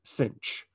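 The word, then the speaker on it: sinh: we pronounce that as cinch i know there's no c there but it is just convention we call we say cinch of x equals one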